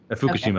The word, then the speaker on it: Fukushima: that were shut down after the, I'm probably pronouncing this wrong, is it Fukushima? How do you say That's correct, Fukushima.